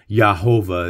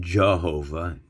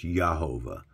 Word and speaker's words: Jehovah: for it it's not Jehovah the J is silent it's yahovah so it almost makes like an H sound and this here is